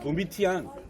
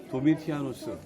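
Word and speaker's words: Domitianus: 신상이 세워져 그 사람들은 산문의 영향을 받다 보니까 트라이안이라고 하는데 도미티안, 트라이안, 하드리안 이렇게 불렀어요. 정확한 표현으로는 도미티아누스 발음이 안 좋습니다만 이해하세요.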